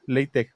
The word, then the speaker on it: LaTeX: Este digo que es muy parecido a lo del latech, ¿no? Latech, según yo no se pronuncia latex, sino es la es la es la letra esta J.